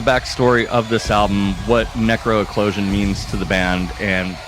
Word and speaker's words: NecroEclosion: Is that, am I pronouncing that? NecroEclosion. There we go. Yeah. I was looking at it. I was reading it properly. Mouth's not working today. Tongue and mouth are not, meshing. So, NecroEclosion.